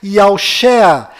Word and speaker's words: Yahushua: A pronúncia do nome de Josué deve ser Yahushua, e a pronúncia do nome do Messias é certamente Yahusha.